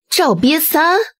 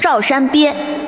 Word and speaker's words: Zhao Shanbie: Pharmacy Cunning and crafty Zhao Bie San ha ha ha The name is truly fresh and unique There is a pronunciation error It is Zhao Shanbie Zhao of Zhao Qian